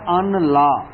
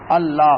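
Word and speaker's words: أَلَّا: अल्लाह असल में क्या अनला अन ये के ला नहीं जी नून साइलेंट हो गया अल्लाह हो गया अल्लाह ये के ना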